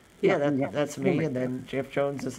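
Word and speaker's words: Geoff Johns: And then Jeff Jones is like number 2, right? Jeff Johns. It's not Jeff Jones. Listen, Johns, like your name.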